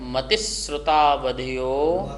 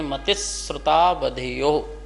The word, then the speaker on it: मतिश्रुतावधयो: मतिस सा के बाद शा का उच्चारण करेंगे। मतिश्रुतावधयो, मतिश्रुतावधयो विपर्यस्य, विपर्यस्य लास्ट में चा है, यश्च।